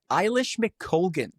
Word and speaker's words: Eilish McColgan: She pronounces it Eilish McColgan.